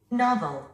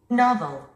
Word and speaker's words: novel: 우리 한국인들은 이 단어를 노벨 또는 노벌 이렇게 발음을 합니다. 원어민들은 Novel. Novel. 나벌이라고 합니다.